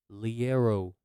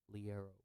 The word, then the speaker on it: Liero: So the first one is Liero. That's the right pronunciation. Liero.